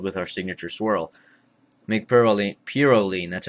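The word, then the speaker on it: Pirouline: Make Purolene, that's how it's pronounced, make Purolene a tradition in your home.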